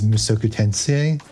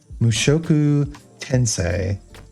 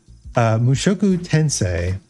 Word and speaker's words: Mushoku Tensei: on my roster is musokutensien mushoku tensei god i should pronounce it correctly if i want to learn how to speak japanese mushoku tensei and i hear that